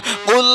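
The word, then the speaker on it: قُلْ: দিয়ে কথাটা বুঝুন ওই কুল শব্দের জায়গাটায় কেউ যদি বড় কফ উচ্চারণ না করে ছোট কাপ উচ্চারণ করে অর্থাৎ কুলের জায়গায় যদি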